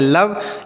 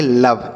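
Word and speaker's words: love: तो इसे हम पढ़ेंगे लव। इसे आपको लोवे नहीं पढ़ना है।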